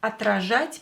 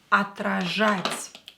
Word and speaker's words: отражать: Отражать means to reflect. To reflect. Отражать. First, don't forget about O, unstressed. We will pronounce it as A. Отражать. Ж here, you have to pronounce it stronger.